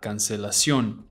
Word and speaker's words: cancelación: The emphasis is on the final O. The tilde is telling you that. Cancelación.